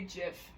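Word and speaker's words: GIF: like grape or like but if it's an e or an i it makes a soft sound so it would be like like like giraffe or like cherry you know but so I would say Jiff next okay um okay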